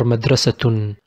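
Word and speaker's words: مدرسةٌ: We write it with double ضمة without ن but we pronounce it with ن.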